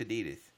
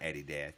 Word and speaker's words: adidas: is it Eddie - it's not Eddie dad no one says Eddie - you run DMC